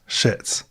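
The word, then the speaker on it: Szyc: z y c and every single site we could find said that it was pronounced shits next month on january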